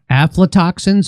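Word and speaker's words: aflatoxins: So, so now you uh talk about this thing called aphletoxins. Am I saying that correctly? Yes, you are.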